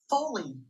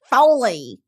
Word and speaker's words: Foley: Foley. Foley. Lee rhymes with C. Okay, I've always said it right. And people are like, it's folly artist.